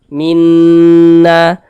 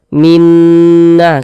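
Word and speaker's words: مِنَّا: musyaddadah karena dia gunah maka cara membacanya itu digunahkan jadi suaranya itu kita tahan kita panjangkan sejenak Minna Minna kita dengungkan kita gunahkan Minna na dibaca panjang nah pasti saudara Sudah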